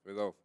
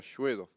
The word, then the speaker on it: Svedov: Svedov, a ver, es solo con S, es Bedov. claro, Svedov. Ujú. Eso es la pronunciación en español, porque después en ruso se pronuncia Shvedov.